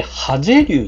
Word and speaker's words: 爆龍: はい、麺こいどころ、これでハゼ流って読むんですね。